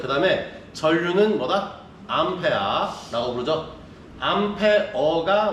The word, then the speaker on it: 암페어: 암페어가 원래는 제대로 된 발음. 근데 우리가 쓰다 보면 편하게 발음하다 보니까 암페아라고 얘기하고 있죠.